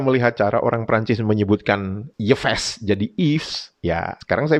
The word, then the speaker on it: Yves: Ternyata itu bukan dibacanya Yves, dibacanya Yves Saint Laurent. Jadi Y di depan itu diucapkan I gitu Pak. Yves gitu.